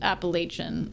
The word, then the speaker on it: Appalachian: So Appalachian is pronounced Appalachian. Okay, Appalachian? Appalachian? Really? Appalachian? I kind of feel like that's a very American pronunciation. It sounds American to me.